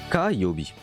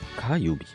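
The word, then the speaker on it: 火曜日: Ça se prononce Kayobi, le mardi. Kayobi.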